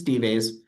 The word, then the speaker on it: D-Vase: Because it's spelled like dives, but it's D-Vase.